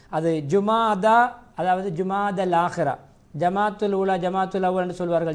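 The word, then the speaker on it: جمادى: ஜுமாதா அதாவது ஜுமாதல் ஆகிரா ஜமாத்துல் ஊலா ஜமாத்துல் அவ்வல் என்று சொல்வார்கள் ஜமாத்துல் அவ்வல் அல்ல ஜுமாதா அல் ஊலா ஜுமாதா அஸ்ஸானியா அல்லது ஜுமாதா அலாஹிரா இதான் அதனுடைய பெயர் ஜுமாதா என்று உச்சரிக்க வேண்டும் ஷாபானுக்கும் ஜுமால் ஆகிராவுக்கும் இடையிலே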